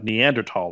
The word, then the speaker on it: Neanderthal: I don't believe that say that word again neanderthal is that how we're pronouncing it now yeah that's how it's pronounced really we've got to be no from behind the camera there I know but that is now the proper pronunciation believe it or not they changed the pronunciation yeah I don't know why or how but that did change master did this yeah